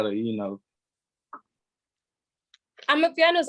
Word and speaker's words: Amapiano: Amapiano. Amapiano. You said it right. It's literally ama, A-M-A, and then piano. But you have to have that ama. It's like saying I'm a piano.